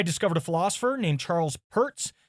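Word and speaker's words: Peirce: After that, I discovered a philosopher named Charles Perz, spelled Pierce with the E in the I switched but pronounced purse.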